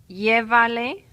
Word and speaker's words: llévale: So we have three syllables and we have to go back three.